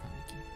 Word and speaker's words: Kaneki: It's pronounced Kaneki. I'm sorry, I will not speak in English here. I'm speaking Japanese.